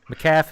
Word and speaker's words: McAfee: McAfee.